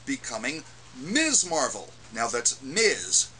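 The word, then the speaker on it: Ms.: Miz Marvel now that's Miz pronounced with a z spelled Ms period get it right this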